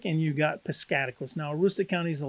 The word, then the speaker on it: Piscataquis: So in northern Maine, you got Aroostook County in kind of most of the northern part, maybe halfway up of Piscataquis County, as I have pronounced these countries too, not counties, not countries, but counties.